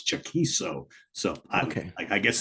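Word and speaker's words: Chaquico: And it's got to be said, the guitarist from this group, Craig Chiquico, I think I think it's pronounced Chiquiso, I think. Because I called him Chiquico for my entire life.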